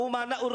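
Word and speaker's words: أمناء: Kemarin menyampaikan begini, Bahar bin Smith, al-ulama umana'ur rusul, tapi bacanya al-ulama amana'ur rusul. Saya katakan salah.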